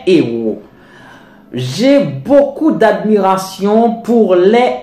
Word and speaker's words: héros: Maintenant, il ne faut pas faire la liaison, alors que c'est important et obligatoire avec un mot comportant un H muet, comme homme, un grand homme, et par exemple pour un mot comme héros, les héros de l'indépendance d'Haïti. On ne dit pas les héros, on dit les héros.